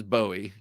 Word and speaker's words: Bowie: And Bowie, of course, is Bowie because David Bowie.